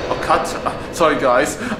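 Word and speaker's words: quatre: Cutter. Oh, cut. Sorry, guys. I mispronounced the French number. How you say four in French, which is cut.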